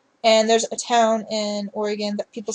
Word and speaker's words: Oregon: So everybody says Oregon or Oregon. I can't even pronounce how they say it. It's so messed up. It's Oregon once again.